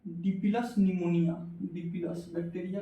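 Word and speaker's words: pneumonia: अब इसको फिमोनिया नहीं पढ़ना है, अब एग्जाम में आएगा तो फिमोनिया बीमारियाँ नहीं पढ़ा है, नहीं, गेट साइलेंट होता है, निमोनिया होता है।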